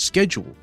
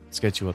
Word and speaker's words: schedule: do not know why I've noticed that schedule is the English way of pronouncing it and schedule is the American and Irish way of saying it oh just the